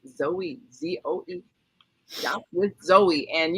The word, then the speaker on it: Zoe: Pronounced Zoe, Z-O-E.